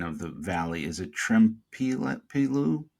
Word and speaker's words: Trempealeau: Now, I'm going to botch the pronunciation of the valley. Is it Trempealeau? Trempealeau, yep.